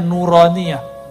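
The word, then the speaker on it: نورانية: nuraniyah makanya ribat tuh kita kasih nama nauraniyah itu bacanya nuraniyah huruf-huruf cahaya dan dulu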